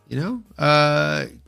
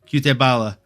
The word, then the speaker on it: Cutelaba: Cutelaba, not Cutelaba. I told you, you're here for the bad pronunciations.